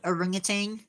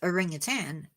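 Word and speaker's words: orangutan: do the aring itan have you ever heard it called aring Tang I have realized that is not how you pronounce it it is a ring of tan I think that's how it's done not the other way around so my little great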